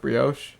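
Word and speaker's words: brioche: be honest you say do you say broch or Brios it's pronounced Brios I don't know this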